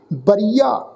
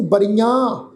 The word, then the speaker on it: बरिया: बरिया इनू बरियां एड़े नूं कन्ना उपर बिंदी लगा के प्रनाउंस नहीं करना, वारी मौका इस ढंग नाल ही प्रनाउंस करांगे बरिया।